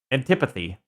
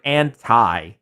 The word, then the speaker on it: antipathy: Antipathy. Antipathy? I read it every time I see the word anti. I always pronounce it anti, but I think it's antipathy.